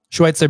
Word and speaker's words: Schweizer: Schweitzer, baby. There's no T in it.